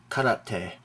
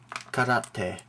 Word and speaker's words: karate: some very common mispronounced Japanese words this is pronounced karate karate it's not karate okay I hear probably 90